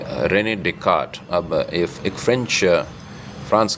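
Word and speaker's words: Descartes: हूं Renee day काट उनका उच्चारण है या स्पेलिंग तो आर एन तो Renee D एस सी ए आर टी एस तो ई एस मेरे ख्याल से उसका उच्चारण नहीं होता है तो हो गया रेने टे काट तो कई साल पहले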